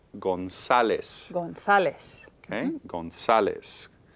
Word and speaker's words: González: González. González. Okay. González. Y estas son 3 sílabas.